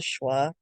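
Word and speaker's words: schwa: one's the most common it's called the schah that's spelled a s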